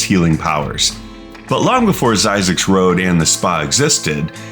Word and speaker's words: Zzyzx: Hidden deep in the Mojave Desert is one of the strangest places in California, Zzyzx Road. And yes, it's actually pronounced Zzyzx, and it has that many Z's.